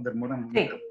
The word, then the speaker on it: Dermota: Bueno, Ken Dermota se pronuncia así el apellido, ¿no? Dermota. Sí.